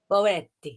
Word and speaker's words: Boetti: Boetti. You have to say it with the Italian accent.